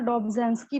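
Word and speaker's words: Dobzhansky: देखिए इनका प्रोनाउंसिएशन है डॉब्जेंस्की बोला जाता है इनको, ठीक है, नाम ही ऐसा।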